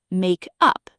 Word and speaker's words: makeup: Notice in all of these, the stress is on up, make up, two words phrasal verb. As a noun, makeup. Now squeeze it into one word, makeup, and the stress shifts to the first syllable, make up.